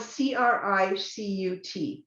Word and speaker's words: Cricut: it's spelled Cricut, Cricut Maker. Right. Now, see, I thought it was like the insect.